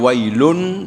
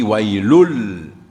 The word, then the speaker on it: ويل: Au lieu de dire wailun, nous pouvons prononcer wailul.